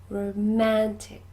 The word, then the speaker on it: romantic: number three romantic romantic can you hear where the stress is it's on the second syllable the middle syllable romantic good number four this